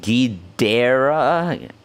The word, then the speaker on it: Ghidorah: Ghidorah is pronounced Ghidera.